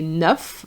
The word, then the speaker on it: neuf: So you're going to say neuf. You're going to pronounce the F But if you have nine in the context of the age for example, you're going to say neuf ans.